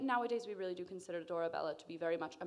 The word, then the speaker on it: Dorabella: up is dora bella pronounced dora bella double l give it a go lovely double l all right this is